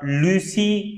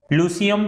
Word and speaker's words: Lyceum: उस संस्था का नाम लूसी कई लोग प्रोनाउंशिएट करते हैं और कुछ लोग उसको लूसियम प्रोनाउंशिएट करते हैं।